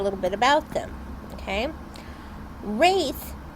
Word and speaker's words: Wraith: little bit about the race and I did pronounce that with a th and not a cage